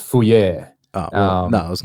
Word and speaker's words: Fourier: You need to look up the Fourier transfer or transform.